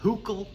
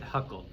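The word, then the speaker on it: Hückel: succinctly here okay so technically he's uh huckle right but i just pronounce it huckle now huckles rule uh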